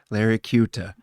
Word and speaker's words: Laricchiuta: I'm cute, and then you add an A, so Larry Cuta. Laricchiuta. Yeah, Got it. and if you want Got to, it. Italian, you can roll your R, Larry Cuta.